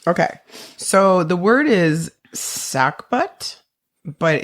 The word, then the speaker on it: sagbut: So the word is sackbut, but it's spelled SAGBUT, but it's pronounced sackbut.